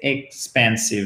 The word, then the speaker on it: expensive: Alors, pour prononcer, vous voyez, le i court, je vous donne une petite astuce. C'est presque comme un E accent aigu en français. Donc, c'est même pas un expensive, mais c'est expensive.